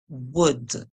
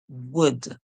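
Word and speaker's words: would: problems in this one the U and L is silent so we hear the O say o we hear w o d w wood wood this word is wood all right we have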